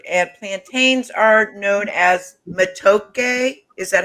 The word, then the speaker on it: matoke: Bananas of every variety are a staple of Ugandan food, and plantains are known as matoke.